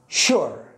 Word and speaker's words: sure: مع الاتش هو ذا فلا بد أن تعلم أن الاسم مع اليو هذه ينطق ش مثل الشين، مثل كلمة السكر sugar وغيرها من الكلمات.